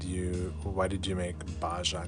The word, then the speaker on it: Baja: so that's also maybe all California is it's pronounced Baja oh it's a part of Mexico oh this